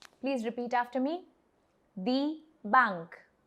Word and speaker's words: die Bank: The next word is die Bank, which is again very similar to English, the bank, but the pronunciation is different. Please repeat after me. Die Bank. Die Bank.